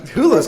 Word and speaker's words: Hulu: Yes, Hulu?